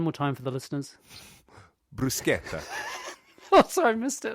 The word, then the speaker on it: bruschetta: I think you're describing to me bruschetta. Oh, you're so close. How should I say it? So how do you spell it first? B-R-U... B-R-U-S, yep, and then what? B-R-U-S-C-H? Yep. E-T-T-A? Perfect.